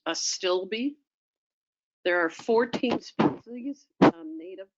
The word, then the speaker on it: Astilbe: of the saxophrage family it's pronounced a stilby there are 14 species